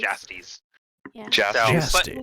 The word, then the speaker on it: Jastes: Jastes is how he pronounces it. Jastes.